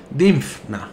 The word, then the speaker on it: Dinfna: dinna Cómo se dice difna sí porque hay una F después de la n difna Sería bueno capítulo 4